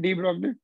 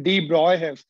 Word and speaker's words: de Broglie: Have you heard the name de Broglie? Actually, de Broglie, we pronounce it de Broglie, but we will continue to tell him de Broglie. Once I say de Broglie, you will not understand.